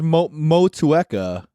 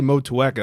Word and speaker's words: Motueka: I always say it as Motueka.